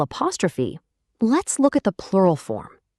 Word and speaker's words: le: A short, relaxed sound.